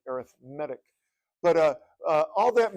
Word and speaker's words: arithmetic: called arithmetic sequence that when you use that word as uh um uh pre you know to to describe the the word sequence we're going to pronounce it arithmetic but uh uh all